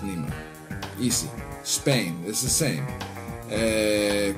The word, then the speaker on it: Neymar: name like neymar it's written neymar and it's pronounced nemer easy spain is the same goalkeeper it's scary